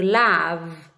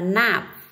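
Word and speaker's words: love: Tiếp này, cái từ tiếp theo đó là từ lav, lav. Cái từ này không đọc là nạp, âm, con chú ý cho cô là âm l, lav.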